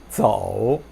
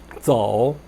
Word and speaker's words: 走: 走 라고 하지 마시고 Z-O-U 연결해서 走, 走 이렇게 연습하시기 바랍니다.